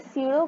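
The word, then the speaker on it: pseudo: सीडो का भी आप वर्ड यूज़ करो। पी एस ई यू डी ओ इसमें पी साइलेंट होता है।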